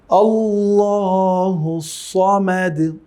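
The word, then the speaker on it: الله الصمد: সমাদ আল্লাহুস সমাদ সমাদ সদের উচ্চারণ কোন জায়গা থেকে মনে আছে তো সেখান থেকে উচ্চারণ করতে হবে সমাদ কোনভাবেই বলা যাবে না। আল্লাহুস সামাদ কেমন? এটি বলার কিন্তু কোন সুযোগ নেই। আল্লাহুস সামাদ বলা যাবে না। কেমন? আবার এই যে দাল আছে দাল এবং দদের উচ্চারণ কাছাকাছি সেটি আমাদের খেয়াল রাখতে হবে।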